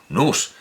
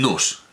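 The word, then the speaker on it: νοῦς: que tenemos el nos el nus en la pronunciación griega desde luego el noss el puro es la pronunciación que todos usaríamos un poco al estilo de tierra un poco una pronunciación francesa el puro espíritu divino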